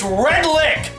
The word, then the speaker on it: Redlich: wait wait wait wait did you just say gorman redlich yes it's red lick potato pudding dingus you